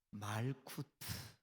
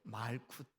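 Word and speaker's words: מלכות: 히브리 말로 나라 이것을 어떻게 발음하냐 하면 말쿠트 그렇게 발음해요. 한 번만 따라해 주세요. 뭐라고요? 네, 말쿠트 그렇게 발음해요.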